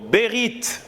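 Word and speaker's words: בְּרִית: est un mot en hébreu c'est le mot berit berit comme ça se prononce t un chat la fin août et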